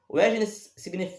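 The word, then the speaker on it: Wegener: Wesner eh se escreve justamente com W e G e N e E.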